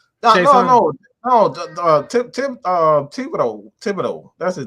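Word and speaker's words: Thibodeaux: Kevon Chason. No. Thibodeau. That's his name. Kayvon Thibodeau.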